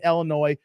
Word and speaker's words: Illinois: Like right now for me, I'm in Illinois, not Illinois, the S is silent, guys.